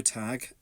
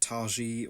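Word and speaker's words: Tagge: So, Cassio Tag, and that is how you pronounce it. It's not Targee or Tage, as I've seen him referred to by others in the LEGO Star Wars creator community.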